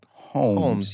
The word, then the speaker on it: Holmes: 20 years old yeah I have a silent l in my name Holmes but you kind of say it homes you don't say homes